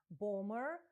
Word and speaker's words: bomber: У вимові слова bomb, bomber, друга B не вимовляється.